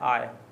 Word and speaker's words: I: आई को हमें बोलना है आय।